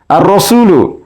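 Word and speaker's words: الرسول: পারি আল হুরুফুল কামারিয়া আর রসুলু আর রসুলু এর আলিফ লাম উচ্চারণ হচ্ছে না তাই এটি আল হুরফুল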